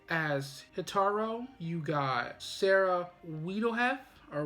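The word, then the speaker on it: Wiedenheft: got jason laberchit as hitaro you got sarah wiedelhev or we didn't have it's spelled w-i-e-d-e-n-h-e-f-t as zazu you got ginny tirado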